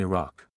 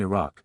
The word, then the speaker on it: Iraq: I said, you said your dad lives in Iraq.